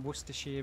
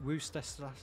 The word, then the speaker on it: Worcestershire: from i am from worcestershire in the united kingdom or as some parts of the world call it wooster yeah or something like that woo sister i'm from the place